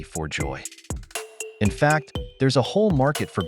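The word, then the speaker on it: 發: love this one because it sounds like fa Mandarin or fat Cantonese which means Prosperity want to see prices double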